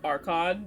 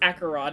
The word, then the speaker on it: Acheron: chat one day because I pronounced her name Archon because that's just what It looks like it. Yeah. Oh, she stood up again. See, he was like, no, it's Acheron.